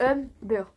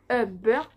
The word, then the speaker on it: Humber: Non, moi, c'est Humber. Donc, pour vous dire Humber, donc on commence par un H, U, M est égal à B, E, R est égal à beurre.